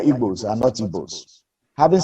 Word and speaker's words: Igbo: begin with you is ibo presidency long overdue presidency not evil the white man could not pronounce the g people so he changed it to ibab so we are igbos and multiples having said